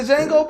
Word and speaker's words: Django: The D is Silent Hill, baby. I hated it. You didn't like the Django, bro?